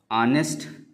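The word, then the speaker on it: honest: इसी तरह से ऑनेस्ट ऑनेस्ट शब्द की शुरुआत भी एच से हुई है। लेकिन इसका उच्चारण आ से हो रहा है।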